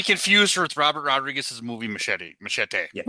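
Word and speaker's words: Muschietti: He has three different uh ways you can say his name. It's Meti, but he actually calls himself Machete.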